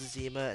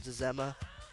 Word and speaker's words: Zema: By the way, I did get the note about Zema being pronounced Zema and not Zma.